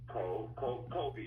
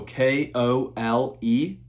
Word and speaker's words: Kole: Okay, Mr. Kobe, right? No, just Kole, so K-O-L-E. Wait a minute. It's K-O... L-E. Okay, I got it. So Kole, and then my last name is, which is K-I-R...